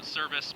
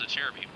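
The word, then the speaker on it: Acerbis: I think they're actually a Cherby. Yeah, I know, Service, but it's apparently pronounced a Cherby.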